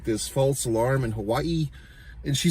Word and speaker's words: Hawaii: It's like Hawaii, you know, like she pronounces every A and I, Hawaii, and then she's always saying aloha, the spirit of aloha, you know what I mean?